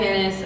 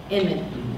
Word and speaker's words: Inman: When Matthew Ennis, I can never say it right. From the oatmeal, Inman.